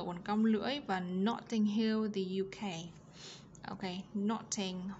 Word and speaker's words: Notting Hill: Notting ở đây chúng ta có T trung âm nằm giữa hai nguyên âm, đọc là D theo giọng của anh Mỹ.